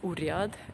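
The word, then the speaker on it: urząd: Воеводский урзат, а мы биурят, скорее всего, вот буква Z чаще всего не читается. We don't read letter Z, so it's урят.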